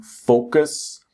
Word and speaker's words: focus: So the strong syllable is the first syllable. It's not focus or focus or something like that. Focus.